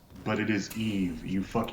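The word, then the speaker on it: Yves: name put this up to the camera as Eva's but it is Eve you these simpletons her name is Eve because so the the cosmology of the Luna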